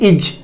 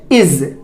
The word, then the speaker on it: is: देखिए, ज्यादातर हमने क्या पाया है, इसको लोग बोलते हैं इज। क्या बोलते हैं? इज, जो कि ये गलत तरीका है, जो कि ये गलत है। इसको इज नहीं बोलेंगे, इसको आप बोलेंगे इज। इज क्या बोलेंगे? इज। यहां पर किसका ध्वनि आ रहा है? जेड का। जेड का। तो जैसे हम लोग जेड बोलते हैं उसी तरीके से हम लोग क्या करेंगे, यहां पर जा को जा बोलेंगे।